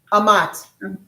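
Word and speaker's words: אמת: H amat is the truth. Amat. It's spelled e m t. But the e is spel is spelled like an ah.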